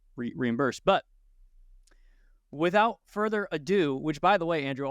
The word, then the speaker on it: ado: a couple episodes ago I was saying further ero I didn't really know what yeah Oro it's it's further Ado and AD do is not spelled like the French version I bid you Ado